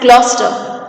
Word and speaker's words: Gloucester: Now, Gloucester is pronounced as Gloucester.